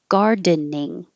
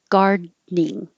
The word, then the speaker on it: gardening: So you can make 3 syllables gardening or 2 syllables gardening, holding it there.